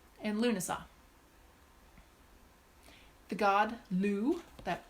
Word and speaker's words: Lugh: seen it Lughnasa and Luna saw the god loo that L ugh it's pronounced loo and so a celtic celebration around